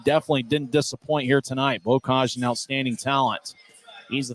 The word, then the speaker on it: Bokaj: As Chris Hagan, we believe, pronounces his name correctly, Bokaj, a former third-round pick by the Colorado Avalanche back in 2019.